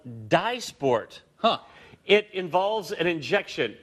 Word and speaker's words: Dysport: called Dysport.